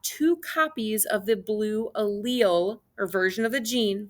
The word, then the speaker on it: allele: use it quite often this is an allele so that's how you say it not like patrick and spongebob that goes a little so this is an allele and this is the